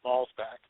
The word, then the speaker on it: Schmalzbach: know my last name last name is is Smalls back but small yeah but I tell people when they say well how do you pronounce that I usually tell them